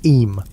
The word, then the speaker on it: Eyam: It's now the summer of 1665, and we find ourselves in Eyam, a small village nestled in the picturesque hills of Derbyshire, England. Eyam, is pronounced just like Eam.